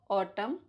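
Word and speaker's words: autumn: होता है चलो मैं बताती हूं एन E silent after M एट द एंड ऑफ a word जैसे ऑटम कॉलम हिम गवर्मेंट डम सोलम कंडेम अब कम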